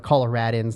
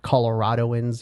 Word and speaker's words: Coloradan: colorado not colorado and we're coloradans not coloradoans you know coloradans coloradans